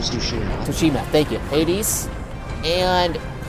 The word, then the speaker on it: Tsushima: It's pronounced Ghost of Tsushima.